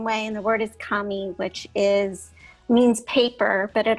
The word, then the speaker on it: kami: a different character for the word, but it's pronounced the same way, and the word is kami, which means paper, but it also means spirit or soul, if you will, as an interpretation.